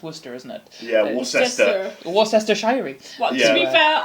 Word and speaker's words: Worcester: It's on the grounds of how Americans pronounce Worcester, isn't it? Yeah, Worcester.